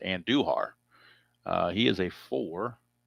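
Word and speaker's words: Andújar: I think it's pronounced Anduhar.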